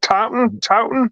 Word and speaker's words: Taunton: Taunton? Monster Expo 3D. It's in Taunton, Massachusetts.